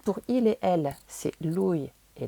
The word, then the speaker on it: lui: Ensuite, pour il et elle, c'est lui et lei, on prononce bien toutes les lettres.